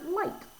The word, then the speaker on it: light: we have the word light and the gh is not at the very end it's in the middle